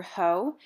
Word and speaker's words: Haux: going to go into the color ho which is spelled like faux but with an h and um we're going